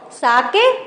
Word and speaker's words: sake: Sake, a popular Japanese drink. Sa is pronounced like a fa in father and K rhymes with way.